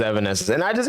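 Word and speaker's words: Evanescence: too late like honestly I never knew that it was Evan Essence and I just it's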